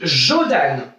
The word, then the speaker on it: Jodan: Devant la bouche, on dit Jodan. Les parents, si vous êtes à côté, écoutez bien comment vont dire vos enfants. Ils doivent dire comme ça, Jodan. D'accord? Ça s'écrit J-O-D-A-N.